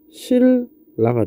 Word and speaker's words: 신라: 자, 얘 발음하면 어떻게 되죠? 칼 랄이 되고 얘 발음하면 실라가 됩니다.